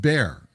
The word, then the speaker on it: Bexar: It's spelled B E X A R, but it's pronounced bear."